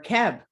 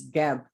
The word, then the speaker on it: Geb: a candle for healing we can say geb of course i always say it three times or keb or seb but the pronunciation is geb you can also carve